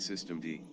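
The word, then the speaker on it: systemd: the Linux stuff okay says I think I pronounce it system D system D oh okay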